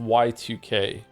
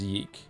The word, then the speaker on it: YIIK: Is it pronounced yik or yike? It's actually pronounced Y2K, but everyone just says yeek.